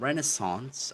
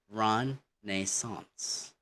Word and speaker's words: Renaissance: Okay, so rather than bin or ben, for RP again and Renaissance are pronounced like again. Okay, and Renaissance, not Renaissance. It's Renaissance.